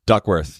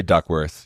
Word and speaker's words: Duckworth: How do you say it? Duckworth? Duckworth. Yeah, we just say Duckworth.